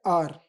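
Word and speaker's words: hour: अब देखिए यहाँ पर एच है, ये कॉन्सोनेंट वर्ड है, लेकिन जब हम इसको प्रोनाउंस करते हैं तो इसको बोलते हैं आर। एच यहाँ पर हमारा साइलेंट हो जाता है, एन आर।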